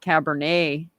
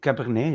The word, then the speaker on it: Cabernet: A yeah, you call it Cabernet, yeah, yeah. We go to wine, it's the French names, so we pronounce it really like the French ones people do.